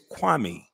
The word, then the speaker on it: Kwame: It's Kwame.